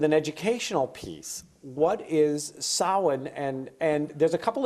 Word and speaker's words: Samhain: a I n so it's not spelled anything like it sounds in English that's because it's a Celtic word so it comes from